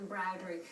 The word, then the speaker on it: Embrowdery: Pronouncing it correctly? No, that's right, Claire. It's Embrowdery.